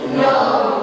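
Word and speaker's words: know: o w no kow bacanya bukan kno tapi no k yang satu tidak banca ban Hmm.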